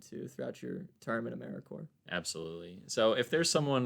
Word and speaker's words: AmeriCorps: is is probably your best way so that's a m e r i c o r p s uh pronounced americorps though that's the first hurdle when you become a member saying americorps not saying americorps uh there's some days it'll